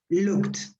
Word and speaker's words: looked: no vibration there so in that case the pronunciation is like a t so you pronounce this looked yeah uh another example